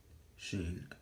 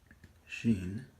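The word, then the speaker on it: Shin: Alright, the next letter after resh is sheen. I may be drawing this the other way. So, sheen. And of course, it has the sound SH.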